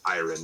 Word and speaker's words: Iron: So as the Magister talks, there's just like an obvious fire that pops into Iron's eye. By the way, just for point of record, it's pronounced Iron, not Aaron.